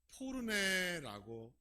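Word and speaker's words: πόρνη: 기생이라는 이 헬라어 단어를 포르네라고 읽습니다.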